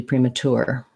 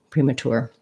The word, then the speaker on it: premature: chur um but yes apparently you can also do premature premature let's hear them i'll turn up the volume for you so like i said i had one opinion about the pronunciation i find here is another way to do it premature premature or premature premature or british premature premature so different syllable stress okay yes thank you